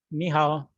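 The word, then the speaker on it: 你好: When there is always two third tones together, so we have to read them. The ni would have the second tone in our pronunciation. Ni will have the second tone, and the hao will have to be in third tone.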